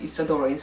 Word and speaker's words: Isadora: We pronounce it Isadora in Swedish.